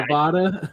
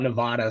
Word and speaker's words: Nevada: Yeah, Nevada. We get a lot of beef when people call it Nevada.